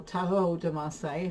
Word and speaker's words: Tarot de Marseille: or in my case, Tarot de Marseille, or Tarot de Marseille, if I try to pronounce it correctly, is no collection if you don't have any decks.